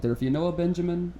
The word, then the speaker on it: Benjamin: My name is always pronounced Benjamin, and I have to throw this out there. There is no R in the name Benjamin, and I don't hold